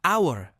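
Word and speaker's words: hour: dalam bunyi vowel seperti our yang dibaca our tanpa huruf H contoh kalimat Alfie bought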